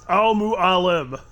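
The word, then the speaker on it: Al Mualim: name it's Al muu Alum mu Alum there you go just just if you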